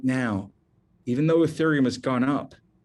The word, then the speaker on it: Ethereum: It's pronounced Ethereum.